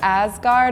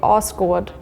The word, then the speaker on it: Asgard: would be in America I would say like Asgard or Asgard in Finland we would say this as Asgard in Iceland we say oh I so I was so surprised in Sweden we would say asard uh in Norwegian we will say oscard in